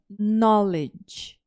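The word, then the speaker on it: knowledge: hoje você vê que é uma palavra que começa com k n e não é pronunciado o cá aí tem um wkn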